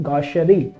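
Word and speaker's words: gaucherie: This is not pronounce as CH. This is pronounce as Chevrolet वाला. So this is गॉशरी.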